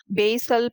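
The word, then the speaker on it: basal: Number 1, dash is த பேசல் part. இந்த வேர்டுடைய correct pronunciation பேசல். வீடியோல பாசல்னு pronounce பண்ணிருப்பேன். But right way டு சே இட் இஸ் பேசல்.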